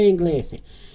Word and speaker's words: inglese: Okay, so they pronounce the E at the end, so it's parla inglese. Se qualcuno che parla inglese.